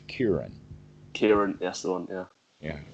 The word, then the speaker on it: Kieran: karen kiran kyrie karen kieran okay that's the one all right there's an english language females named karen but this is kieran karen yes on yeah